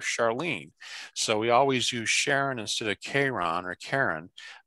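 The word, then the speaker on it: Charon: the river styx now everyone who knows anything about greek mythology and is probably cringing at the way i'm pronouncing which is sharon why sharon and not k-ron because the actual greek way of saying sharon was k-ron well the reason was that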